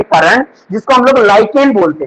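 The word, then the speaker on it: lichen: कारण, जिसको हम लोग लाइकेन बोलते हैं। क्या बोलते हैं? लाइकेन। ठीक है, बहुत सारे लोग इसको लीचेन भी पढ़ते हैं, तो प्रोनाउंसिएशन चलता है, ठीक है।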